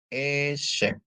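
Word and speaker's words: עֵשֶׂב: Terus ada ain dikasih sere bacanya E. Shin dikasih segol bacanya C. Ditambah bet ya. Jadi bacanya E-shape.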